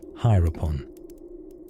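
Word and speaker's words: Hiropon: Enter Filipon, known in the west as methamphetamine, and in Japan as heron, pronounced hierupon, which sounds like the name of a disreputable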